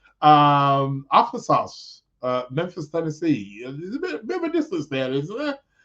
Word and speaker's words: Arkansas: That's how they pronounce it. Arkansas. You're right.